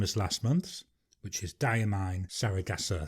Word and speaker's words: Diamine: the medium nib the ink i see is diamine i've been told that's how you should pronounce it so i'm going to try and